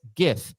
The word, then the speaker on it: GIF: the acronym stands for it stands for graphics which is pronounced with a hard G sound you don't pronounce Graphics like it's spelled with a J hence GIF and not gif boom